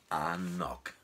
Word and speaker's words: anCnoc: dem Namen Anok vermarktet, und damit man das auch sprechen kann, steht das auch immer auf der Flasche schön drauf, pronounced Anok.